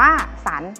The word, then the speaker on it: สรรค์: อ่าน ว่า พัน สอ ระ หัน อ่าน ว่า สรรค์ และ ทำ สุด ท้าย หอ รอ หาร อ่าน